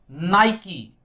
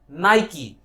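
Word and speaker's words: Nike: Company बड़ी आती है, लोग इसे बहुत गंदा प्रोनाउंस करते हैं, कई बार लोग इसके बहुत सारे प्रोनाउंसिएशन लाते हैं, लेकिन ध्यान से देखें इसकी प्रोनाउंसिएशन होती है नाइकी। The correct pronunciation of this one इज नाइकी।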